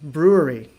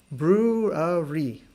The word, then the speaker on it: brewery: Brew-er-ee. And this is what we talked about last week, the r sound. This is a very soft R in English.